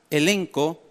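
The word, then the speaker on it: ἐλέγχω: Esta palabra convencer en el griego se pronuncia elenco y significa acusar, convencer,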